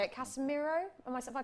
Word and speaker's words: Casemiro: Casemiro? Have I pronounced it right?